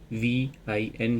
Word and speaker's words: Vine: VIN ही इसको pronunciate करते हैं और ये एक फूल से जो है वो तैयार की जाती है।